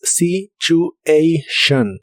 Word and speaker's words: situation: situación en inglés es situation con una o muy suave about the situation about